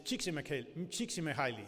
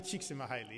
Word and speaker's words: Csikszentmihalyi: has this name that's kind of difficult to pronounce, his first name is Micheli, and his last name is Csikszentmihalyi. It's actually Mihaly Csikszentmihalyi is his full name.